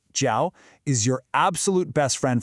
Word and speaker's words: 叫: This verb, jiao, pronounced jiao, is your absolute best friend for talking about names.